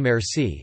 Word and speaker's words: merci: using the French word merci merci stressed however on the first syllable the hybrid Persian Arabic